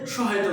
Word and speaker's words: সহ্য: একটা সহজ শব্দ লিখি, হয়ের সাথে জফলা, কাজে হয়ের উচ্চারণ লোপ পাবে, জটার উচ্চারণ দিতে হবে, আবার সেটা মহাপ্রাণতা লাভ করবে। এই জন্য এটার উচ্চারণ কিন্তু হবে এরকম, সহ্য।